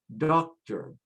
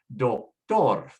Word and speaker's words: doctor: We say motor, tractor, doctor. However, in Spanish, because it ends with a consonant, we have to put the stress on the last syllable. So you say motor, tractor, doctor, color, actor, favor.